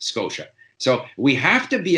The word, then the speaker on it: Scotia: make the sound sh, but he would always pronounce it Nova Scotia. To him, TIA is Scotia. He didn't notice, he didn't make the effort to notice that, in fact, it's pronounced Scotia.